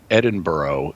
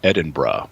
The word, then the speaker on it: Edinburgh: So Deirdre here in San Diego, thanks for straightening me out on my pronunciation of one of the most important cities in the world. It's also not Edinburgh, it's Edinburgh.